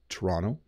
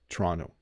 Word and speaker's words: Toronto: province I'm in but you should say Toronto Toronto some people if you're from Britain I hear people from Britain often say I'm going to go to Toronto Toronto and they make the T but in Ontario we often say Toronto or Toronto I'm going to go